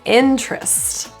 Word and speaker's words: interest: colleague another word is interest the e in the t-e-r is deleted all together so trust or terest